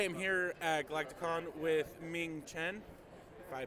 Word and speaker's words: Ming Chen: I am here at Galacticon with Ming Chen, if I pronounced either side right. You nailed it, my friend. Ming Chen.